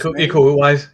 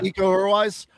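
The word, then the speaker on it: Iko Uwais: Um, Io or Io, I forget how you pronounce it. Ecoise. Yeah, eco-wise.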